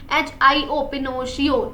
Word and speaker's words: Pinocchio: Spelling अच्छे से लिखना, PINOCCHIO, पिनोशियो।